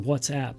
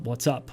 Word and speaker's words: WhatsApp: ICQ and whatsapp and by the way it's pronounced whatsapp not what's up what's up means hello and whatsapp means it's